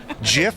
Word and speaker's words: GIF: the ability to include a Jif file gif gif whatever you choose is a gif I told is the proper way to say that term that's what I'm